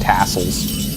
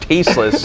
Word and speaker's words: Tasteless: Should have seen how long it took for Tasteless to make me not call him Tassels.